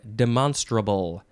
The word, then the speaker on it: demonstrable: next word is demonstrable that is how you pronounce that word demonstrable adjective from the 15th century one capable of being demonstrated now we could say demonstrable but I don't think that that sounds silly demonstrable no demonstrable but it does sort